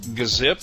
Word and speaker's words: gzip: zip and g unzip sometimes it's hard to know how to pronounce these things i've also heard them call gazip and gunzip and that's more like the gnu tradition of pronouncing things i'm just going to call them g-zip and g-unzip and let you sort it out these utilities work more